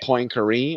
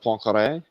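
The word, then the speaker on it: Poincaré: names yep i heard him kept saying poincare instead of poncare because nobody knows how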